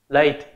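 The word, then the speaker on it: Lathe: Nó tên là modify là late. Phát âm giống như là late của đi trễ vậy á. Phát âm như nhau, chỉ là thêm cái âm thờ ở phía sau thôi.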